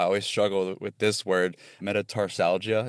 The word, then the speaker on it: metatarsalgia: Metatarsalgia, is that how you pronounce that? Metatarsalgia, yep, you got it.